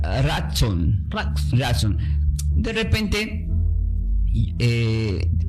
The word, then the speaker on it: Ratzón: Y la palabra del hebreo, esta palabra del hebreo, el favor, se pronuncia como diga ratson.